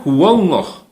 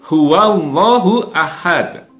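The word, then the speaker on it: هو الله أحد: tetap full huahad huahad jangan hullah ya kita sering mendengar orang membaca Qul huwallahu ahad ini salah yang benar adalah full huwallahu Ahad guanya tetap berbunyi hua hua hua Ahmad Oh ya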